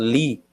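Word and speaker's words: לִי: Então, nós vemos que esse Od está tendo o som de I nesta frase, que significa, é pronunciado li, li.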